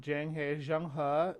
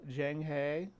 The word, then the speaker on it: Zheng He: Acting Captain Will Riker in command of the USS Zheng He. They kind of butchered the pronunciation. But anyway. Zheng He, he said. Zheng He, Zheng He.